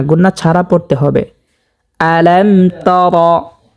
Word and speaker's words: ألم تر: আলাম তর, রকে মোটা করে পুর করে পড়তে হবে, কারণ রর উপরে জবর হয়েছে। রর উপরে জবর পেশ থাকলে সেই রকে মোটা করিয়া পুর করিয়া পড়তে হয়। যেমন আলাম তর, অনেকে পড়ে থাকেন আলাম তারা।